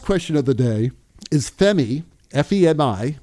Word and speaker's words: Femi: Anyway, so our last question of the day is Femi, F-E-M-I, and I think that is the correct way of pronouncing it.